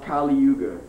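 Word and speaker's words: Kali Yuga: the Iron Age of quarrel and hypocrisy it's pronounced kuga k l i y u g a and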